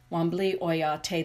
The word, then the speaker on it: Wambli Oyate: It is the eagle, Wambli. Wambli Oyate, the Eagle Nation. That's how it's said in the Lakota language, Wambli Oyate.